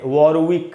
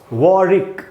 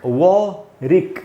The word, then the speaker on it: Warwick: इसका correct pronunciation है वॉरिक, वॉरिक, ऐसे पढ़ेंगे वॉरिक, यानी ये जो W है वो साइलेंट है, ऐसा आप मान सकते हैं। तो इसको वॉरविक नहीं बोल के बोलना है वॉरिक, यूनिवर्सिटी ऑफ वॉरिक, न